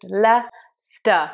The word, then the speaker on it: Leicester: But coming back to Leicester, it's just said Leicester. All those other confusing letters, just forget them. It's just Leicester. You don't say that C, for example. When Leicester won the Premier League,